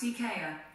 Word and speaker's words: IKEA: That's pronounced IKEA.